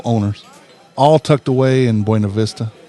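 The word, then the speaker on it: Buena Vista: all tucked away in buav Vista not buav Vista buav Vista get hungry right way to say it yeah that's the proper way uh get hungry order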